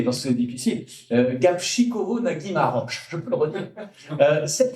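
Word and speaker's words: Gabčíkovo-Nagymaros: En commençant par une affaire qui s'appelle, et j'ai appris à la dire, j'ai appris à le prononcer parce que c'est difficile, Gapchikovo Nagimaroch, je peux le redire.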